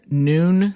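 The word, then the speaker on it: Nuun: I often recommend noon sports tabs. That's spelled nu n sports tabs that contain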